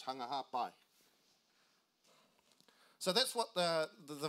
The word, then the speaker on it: Hunga Ha'apai: fact for the tongin the P is actually pronounced with a B say hung a half by so that's what the